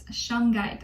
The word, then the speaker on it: shungite: that'll benefit you the most right now is shanghait shungite i think it's spelled yeah s-h-u-n-g-i-t-e it's associated with the root